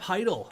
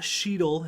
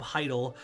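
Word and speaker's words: Chytil: the 12 million phillip heidel not sheedle it's philip heidel the c is silent it's the weirdest name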